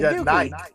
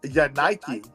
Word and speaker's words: Yanike: So, since this arrest, the man has been identified as Yay, Yanike. Yanike. Y-A-N-I-K-E. Yanike.